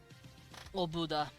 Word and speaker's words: Oboda: Oboda. Oboda. Oboda. Technically, that O in the middle would be pronounced a little bit with an oo sound. Obuda.